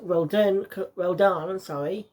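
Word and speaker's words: Rodin: Of course, Roldan, that's how you pronounce it, comes in and gives Bayonetta new versions of the weapon she got in the last game.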